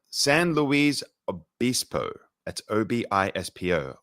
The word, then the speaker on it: Obispo: moved to I'm gonna do my best to pronounce this s San Louise Obispo that's Obispo Obispo in California where he embarked on a quieter